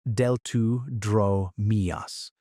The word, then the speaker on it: Deltadromeus: Smaller, faster theropods called Deltadromeus, pronounced Deltudromeus, patrolled the same floodplains.